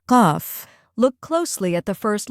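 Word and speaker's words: قاف: Today we're moving on to the next letter, QAF. We'll look at how it sounds, how to pronounce it correctly, and go over a few easy examples to help you remember it.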